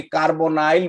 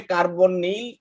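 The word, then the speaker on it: carbonyl: শিখবো, সেটাকে আমরা বলি কার্বনাইল মূলক। এটাকে আমরা বলি কার্বনাইল। এটাকে আমরা কি বলি? কার্বনেট। কার্বনাইল ইংরেজিতে কি, CORBONYL। আচ্ছা, NYL কেউ বলে কার্বনিল, কেউ বলে কার্বনাইল, এখন তোমরা যেটাই উচ্চারণ করতে পারো।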